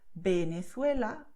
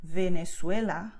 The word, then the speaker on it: Venezuela: Officially in Spanish, both letters have the same sound, which is B. So you would say Venezuela, Valencia, Barcelona, Berga, okay? And this is so because both letters have the same sound. You see, my two lips are touching when I say Venezuela, okay?